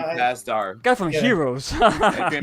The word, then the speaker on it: Pasdar: And also you got Adrian Pasnero. How you say his name? Oh, Adrian Pasdar.